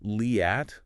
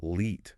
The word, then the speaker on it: Liat: Well, it's not Liat like it might seem. Oh. The correct pronunciation is Leet with a long A sound, like in spa or pasta.